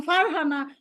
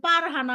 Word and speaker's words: ফারহানা: ওই যে বলেছি আমার নাম ফারহানা, এখন যদি কেউ আমাকে বলে যে পারহানা, হবে?